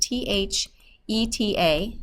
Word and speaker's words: theta: Theta is pronounced T-H, or is spelled T-H-E-T-A, so you hear a T-H sound, not an F sound, theta, and that's just a Greek letter that we commonly use when we're talking about angles.